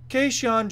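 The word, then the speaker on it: Kajan: Cajun Johnson had Dan Hardy and John Gooden pronounced his first name Casey on occasion Casey on Johnson it spelled kaj a.m.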